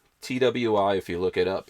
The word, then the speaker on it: Twi: It's called Twi. TWI.